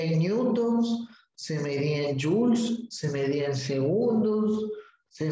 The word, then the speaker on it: joule: O joules se lee. Bueno, se escribe joule, pero como es un apellido en inglés, eso es joules.